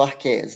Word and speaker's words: árqueas: As árqueas ou arqueias, né? A gente pode pronunciar das duas maneiras.